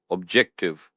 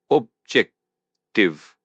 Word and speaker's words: objective: Objective pronounced objective pronounced objective. Press the stress on the second syllable.